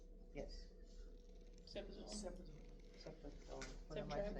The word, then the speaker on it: cefazolin: Don't know how to pronounce that one. Cephalosporin. Cefalozolin? Yes. Cefazolin.